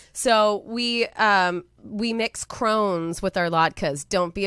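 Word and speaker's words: crosnes: so you know we mix how do you spell that c-r-o-s-n-e-s c-r-o-s-n-e-e-s okay crohn's okay and so you uh shred that up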